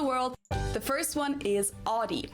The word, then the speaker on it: Audi: the first one is Audi. Most Americans that I know pronounce it like I just said it. Audi. In German, we say Audi.